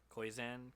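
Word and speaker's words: Koyczan: words as much as how do you say his name? Shane Kozan? Yeah, Kozan. That's the part I wanted to say. I don't know. It's Koyzan.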